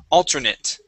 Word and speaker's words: alternate: You had used a TH sound for that T, saying alternate. Okay. Alternate. Try that. Alternate. Alternate. Okay. Now with the A-T-E here at the end, we actually pronounce that like a short I and a T.